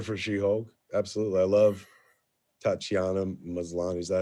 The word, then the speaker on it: Tatiana Maslany: I love Tatiana Maslany. Is that how you pronounce it?